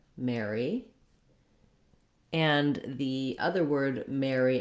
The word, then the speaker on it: Mary: going to describe it all three of these are the same and you use the